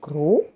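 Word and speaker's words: gros: the word itself is grow meaning fat you don't pronounce the S so see you in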